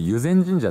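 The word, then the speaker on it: 湯前神社: かすいませんこれ友禅神社って読むそうですけど江戸時代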